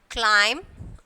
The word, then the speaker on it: climb: So here B is silent, and then climb, again B is silent, and then bomb, B is silent.